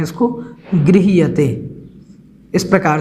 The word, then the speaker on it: गृह्यते: आराम से पढ़ सकते हैं अंतिम पंक्ति में गृह्यते बोलना है इसको गृह्यते इस प्रकार से इसको उच्चारण में आप एक दो बार बोलेंगे तो